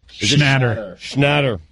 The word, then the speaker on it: Schnatter: NFL sponsor Papa John's apologized Tuesday, 2 weeks after its founder and CEO, John Schnatter. Did I say that right? I can't say his name. Is it William Shatner? Schnatter.